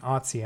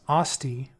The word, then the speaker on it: Asti: So Asti, I keep saying Otzi, I'm flipping the T and the S. Asti deals 5 damage.